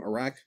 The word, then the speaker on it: Arach: good morning it's Dr that's how you say her name ARA like arachnid good morning hope you've had